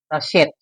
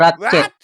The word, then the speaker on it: Ratchet: Pero naririnig ko po talaga sa cartoon na tabo sa kanya is rchet. Hindi po ratchet.